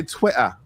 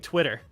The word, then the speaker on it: Twitter: really fun fact is we don't pronounce our T's if they're in the middle of words we use D's like even we've been saying Twitter it's Twitter Twitter but like we're saying Twitter Twitter you know a bottle